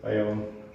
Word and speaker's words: Biome: So yeah, bring me, that's how you pronounce the name of the band. Biome.